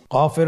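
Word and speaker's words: ك: নম্বর হরফটির নাম কাফ কাফ উচ্চারণের ক্ষেত্রে অবশ্যই পাতলা করে উচ্চারণ করতে হবে এবং তিন আলিফ টেনে পড়তে হবে।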